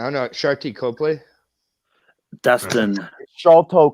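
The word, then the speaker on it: Sharlto: Shalto Copley, not Sharty.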